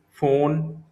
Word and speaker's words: von: Das ist in der Nähe von V pronounce as F in German.